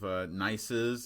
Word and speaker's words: gneiss: Hopefully, but that's what real gneiss looks like, and it is pronounced gneiss.